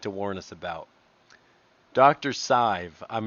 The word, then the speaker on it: Sidhbh: In a field of medicine characterized by poor patient outcomes and worse ethics, Dr. Sidhbh rhymes with J. Dr. Sidhbh.